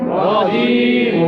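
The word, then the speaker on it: الرجيم: ক তনি তানির রজিম রজিম রজিম রজিম এই র টা উচ্চারণটা মোটা হবে রজিম রজিম আউজুবিল্লাহি মিনাশ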